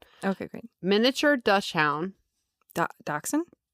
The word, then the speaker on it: dachshund: Miniature dut dachshund. D- AU or D A C H S H U N D. That's a dachshund. That's a dachshund. You don't say Dutch hound.